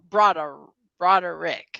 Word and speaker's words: Broderick: It's Botterick, not Botterick. Broderick.